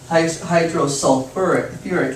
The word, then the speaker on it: hydrosulfuric: Instead of saying hydrosulfic acid, you actually use the word, or you actually use two syllables, sulfur, or sulfur. So it's hydrosulfuric acid. So for H2S, that's one of the few exceptions. It's similar, you still get the hydro prefix, but instead of being just the first syllable, it's the first two syllables. It's sulfur, and then add the IC.